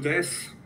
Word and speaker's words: です: Entonces, sea watashi no namae wa Eric-ku desu. Es correcto. Sí, tengan cuidado, la pronunciación es Eric-san, la última. Su es como des, como que desaparecen, no es de su. Des.